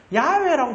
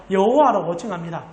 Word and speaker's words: 야훼: 알고 계십니까 혹시 들어보셨습니까 야외라 부르기도 하고 여호와라고 부르기도 합니다 실제로 현대신학에 가장 하나님의 이름에 밀접하다고 보는 것을 여호와는 아니다라고 봐요 야훼라고 부르는게 맞다라고 생각하지만 저는 우리 교단에 따라서 여호와라고 정확한 발음은 아니에요 왜냐하면 성경 필사자들이 이런